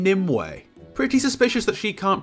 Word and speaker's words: Nimue: Also, Merlina calls the Lady of the Lake Nemu? Nemu. It's fucking Nimue.